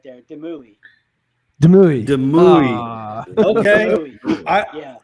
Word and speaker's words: Demouy: But I think it's Demoy. Is that right? Close. It's A for effort right there. Demui.